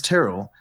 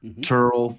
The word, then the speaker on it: Terrell: So mine's Terrell. I've been called Terrell, Turl from kindergarten all the way to high school.